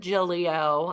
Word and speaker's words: Giglio: I was like, the second G is silent, but everybody calls me Gigs.